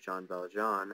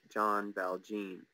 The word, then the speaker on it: Jean Valjean: the first time he says it, and comically mispronounces the main character's name, Jean Valjean, as John Valjean.